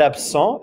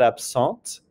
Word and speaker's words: absente: Not absent if it's a female, but absente.